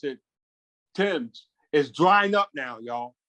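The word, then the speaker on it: Thames: the river things of the river uh they pronounce it tim's is drying up now y'all in england it's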